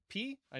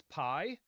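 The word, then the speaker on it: π: Next, we have P. I know math teachers will teach us to pronounce it as pi, right?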